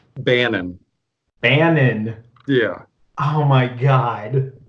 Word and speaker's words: Bannon: show absolutely thanks for having us you you mispronounce our names though it's it's not banning say how was it supposed to be pronounced Bannen Anand yeah oh my god yeah I know